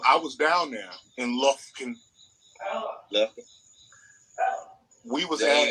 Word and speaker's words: Lufkin: Don't pronounce every letter. Lufkin. That shit got like Look 5 it up. F's in it.